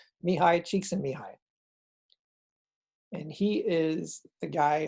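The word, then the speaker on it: Mihaly Csikszentmihalyi: the place next is dr mihai cheeks and mihai how that name equals that pronunciation is beyond me but that's what it is mihai cheeks and mihai and he is the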